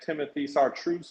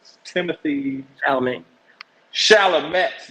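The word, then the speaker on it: Timothée Chalamet: I like that they have Timothy Chartreuse on there, or how do you say it? Timothy Chalamet.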